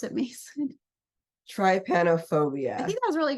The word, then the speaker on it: trypanophobia: And the term for it is, and do you want to try to pronounce it, Mason? Trypanophobia.